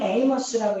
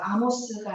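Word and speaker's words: Amos: 자, 영어로는 에이머스라고 읽어요. 아모스가 아니고 에이머스 이렇게 읽는데 자, 우리 영어 한번 읽어볼까?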